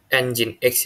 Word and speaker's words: nginx: log file pada sistem jadi ini bacanya engine X ya guys engine X telah terinstal